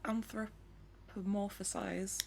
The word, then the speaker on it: anthropomorphize: Is it anthropomorphize?